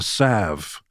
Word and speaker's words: salve: Money is the sav of everything. If you recognize that, you know, just laying in a bathtub just throwing it up in the air. Money is the sav with a silent L.